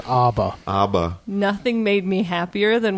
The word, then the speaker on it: ABBA: don't think knows how I believe it's pronounced ABA ABA nothing made me happier